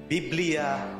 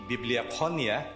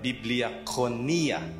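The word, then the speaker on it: βιβλία: we say it again biblia okay so the way to pronounce the greek is to pronounce every syllable okay so um it's not actually bibliophonia but biblia it's a coin term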